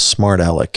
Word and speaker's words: Smart Alec: So one of the producers you've worked with in Kansas City is Smart Alec.